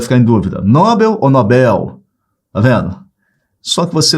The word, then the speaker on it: Nobel: prêmio Nobel da Paz a maioria a maioria fala prêmio Nobel Essa palavra não é paroxítona Nobel essa palavra é oxítona ele ganhou o prêmio Nobel da paz tá vendo e essas